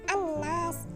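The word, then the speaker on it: النَّاس: Di sini ada kata an-nas. Nah, ada tanda alif lam bertemu dengan nun yang merupakan salah satu dari huruf syamsiyah. Maka cara membacanya adalah dengan meleburkan an-nas gitu ya.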